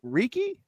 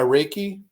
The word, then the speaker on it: reiki: how do you say is it ricky uh reiki okay so we're gonna have